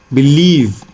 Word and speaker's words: believe: Now look at this word, believe. Now the focus is, the stress is on leave, right?